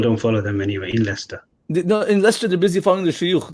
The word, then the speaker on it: Leicester: leicester leicester even though people in america they pronounce this licensed because it's written like that but it's not vice ester it's leicester oh yeah leicester you know and we we